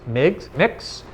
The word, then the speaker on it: Mx: Saying you're non-binary, being asked to be addressed as, I think it's pronounced Mix, MX, not Mr.